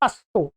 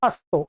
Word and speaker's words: असतो: लोग मैंने सुना है उच्चारण करते अस्तो अस्तो अस्तो स को आधा कर देते हैं अस्तो मा स गाय तो असतो नहीं है ये क्या है असतो स में अ है असतो अब आइएगा इसको तीन पार्ट हमने कर लिए।